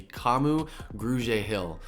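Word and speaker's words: Kamu Grugier-Hill: that I had to look up how to pronounce this is gonna be Camus grew J Hill now common grew J Hill he was a linebacker he's coming from Philadelphia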